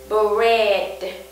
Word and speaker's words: bread: nhiều bạn pháp sai Các bạn thấy chúng ta có tổ hợp phụ âm Br Br Hai môi chúng ta bậm lại có âm e b b b và từng cùng là âm D bread bread very good